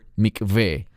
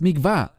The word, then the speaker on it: mikveh: es la palabra hebrea Mikveh. Normalmente los mesiánicos que hablan inglés lo pronuncian como mikvah. No es mikvah, es la palabra mikveh.